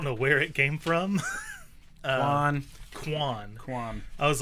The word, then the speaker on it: Quann: Quann. Quann. Quann. I was like, I knew it had Qualla. a Q, a qua. Yeah. Where did it come from? It's Quann.